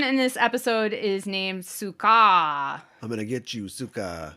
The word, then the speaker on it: Suka: uh s-c-a-r so scar in japanese her name is spelled s-u-k-a-a uh the japanese word for scarf is sukafu so for her name they literally just dropped the last syllable so it's suka and it's supposed to be